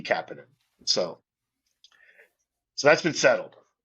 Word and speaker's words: Kapanen: Um, and he insists that it's Kapanin. That Okay. Kapidan himself said, "I'd like it to be Kapinan."